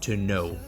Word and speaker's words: Tonneau: Also a Cartier Tonneau. I believe that's French, so that's how you pronounce it, and I will have it spelled out and everything on the description and review.